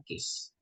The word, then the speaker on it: cache: Tulisannya caca gini ya, bacanya case.